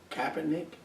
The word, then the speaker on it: Kaepernick: Right here and right now, what's current is Colin, and how do you pronounce his last name? Kaepernick?